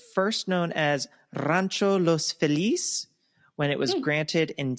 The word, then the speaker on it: Feliz: It's not Los Feliz, but, you know, his name wasn't Feliz because that's not how it's pronounced. It's Feliz, people. Oh, wait, that's what Los Feliz is? It's supposed to be like Feliz? Yeah, it's spelled Feliz, like Feliz Navidad, but they all pronounce it as Los Feliz.